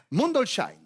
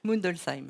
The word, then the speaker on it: Mundolsheim: Je vais me lancer dans la prononciation de cette ville alsacienne parce qu'il faut que je m'y mette petit à petit. Mundolsheim. Non, Non. J'avais une chance sur deux. Alors on dit comment? Mundelsheim.